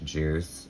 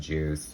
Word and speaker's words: Guice: commonly known as butch juice um i swear to god i think it's pronounced juice it looks like guys